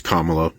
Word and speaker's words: Kamala: be welcomed by my first of all it's comma she's been a prominent figure for 10 years pronounce her name correctly it's like a respect